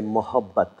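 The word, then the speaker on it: मोहब्बत: And if you feel being a little more generous and a little more gentle, then you say mohabbat. Mohabbat. Mohabbat.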